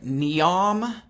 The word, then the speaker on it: Neom: Yeah, it looks like Neom. Like, it's like neon with an M on the end of it.